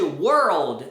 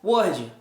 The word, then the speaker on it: world: É como se fosse were or. Tipo caipira. Tipo caipira mesmo. Were, were, sir, there were e old. Então, dá uma subidinha world, world, o que é muito diferente como as pessoas geralmente pronunciam, que é word.